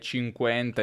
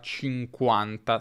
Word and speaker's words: cinquanta: also saying "forty" and "cinquenta" etc. But in Italian we say “quarAnta”, “cinquAnta”, “sessAnta”, “settAnta”, “ottAnta” and “novAnta”.